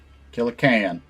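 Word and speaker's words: Killa Kan: Killer is just pronounced like can. Okay. Like a can of soup. Kill a can.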